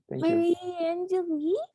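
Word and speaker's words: Marie Angélique: maybe cool okay uh marie angelique is that how you say it yes marie angeli cool um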